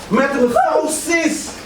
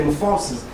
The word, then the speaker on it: Morphosis: Morphosis. Most deaf, but just to clarify first, it's spelled Morphosis, like you're literally meeting a morphosis.